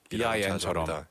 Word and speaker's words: been: 근데 스펠링은 been인데 근데 발음은 자주 been. BIN처럼. 그죠? 약간 쓰레기통처럼 I've been. I've been 아니면 I've been 둘 다 상관없는 거 괜찮아요. 둘 다 괜찮습니다.